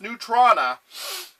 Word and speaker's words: Neutrona: the Proton Gun, or Neutrona Wand. Yes, it is pronounced Neutrona. No, it's not named after neutrinos.